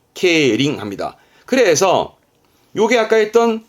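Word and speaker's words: 競輪: 되겠습니다 그리고 요게 경자 경쟁의 경자이 경륜 발음은 케링 케링 그 예를 들어서 말 가지고 경쟁하는 건 경마 그건 케바 케바 합니다네 지금은이 바퀴 이름 자는 자전거를 의미해서 자전거 가지고 경주하는게 경륜 케링 케링 합니다 그래서 요게 아까 했던 주차의 주자주 그러면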